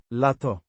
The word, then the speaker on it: lato: Pronounced Lato. with the stress on the. La.